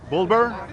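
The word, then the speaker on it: Balbir: b a l b i r and they pronounce it bulber b a l b r and his last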